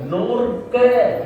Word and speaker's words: நோர்க: இப்ப சஷ்டியை நோக்க என்று புத்தகத்தில இருந்தாலும் நாங்கள் எப்படி பார்க்கிறோம் சஷ்டியை நோர்க நோர்க நோக்கல்ல நோர்க நோன்பு நோர்க என்ற அந்த உச்சரிப்பு வரும்படி படிக்க வேண்டும் அன்பர்களே நோர்த்தல் என்றால் நோன்பு இருத்தல் என்று பொருள் நோக்க என்றால் பார்க்கறதுக்கும் நோக்கறதுக்கும் வித்தியாசம்